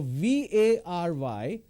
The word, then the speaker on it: vary: be very helpful now v a r y is pronounced as vary for example uh the results vary from the efforts means they're different but here I want to say very which is v-e-r-y now what is happening